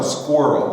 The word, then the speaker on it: squirrel: Oh, so you do pronounce the E at the beginning, like E squirrel? No, squirrel.